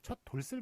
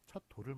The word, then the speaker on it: 돌: 표기고 만약에 여기에 들어간다면 뒤에 모음으로 시작하기 때문에 시옷이 넘어가거든요. 그래서 첫 돌슬 맞은 아이가 돼요. 그러니까 첫 돌슬 맞은 아이 이렇게 발음하는 사람은 아무도 없지 않습니까? 그렇기 때문에 첫 돌을 맞은 아이 이런 식으로